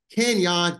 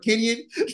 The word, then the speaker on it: Kenyon: good man I'm good I appreciate you pronouncing my name right um nobody ever get it right then so thank you I'm pretty sure they say what Kenyan yeah I get I get Kenyan more than I get the actual pronunciation of my name man so that was